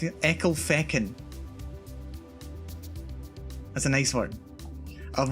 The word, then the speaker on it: Ecclefechan: How do you think you pronounce this? It's here anyway. It's Ecclefechan. Ecclefechan. Ecclefechan.